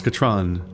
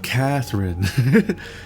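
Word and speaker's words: Katran: It really does color Atris in a negative light that her name's Katron. And she's like, Catherine? No, it's Katron. It's Catherine.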